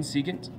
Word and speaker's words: secant: of our reference angle secant we spell sec still saying secant this is the reciprocal